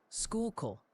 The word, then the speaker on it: Schuylkill: Schuylkill is decidedly Schuylkill. You were close, but they're passionate about that kill.